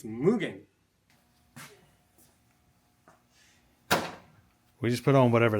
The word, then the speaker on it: Mugen: for saying it wrong mugan it's mugan I think m m Mugen you know what I don't care honestly don't care the correct pronunciation is mugan we just put on